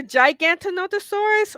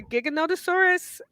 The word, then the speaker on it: Giganotosaurus: the pronunciation itself so it's either gigantic no thesaurus or giganotosaurus um i usually go with the latter pronunciation because it's easier to say yes so giganotosaurus is